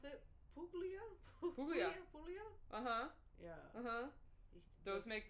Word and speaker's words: Puglia: People are saying only Italian wines I like are from, how do you pronounce it? Puglia? Puglia.